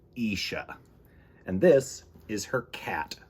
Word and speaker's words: Isha: written and illustrated by kenisha snead this is isha you say it like isha and this is her cat who loves to